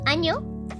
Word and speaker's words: año: I recommend you to Google año, but with an n instead of an ñ. So you know why you should never with this word specifically, like, not use an ñ.